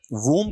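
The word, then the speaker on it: womb: वूम कहा जाना चाहिए। जो कि बे साइलेंट रहेगा आपका।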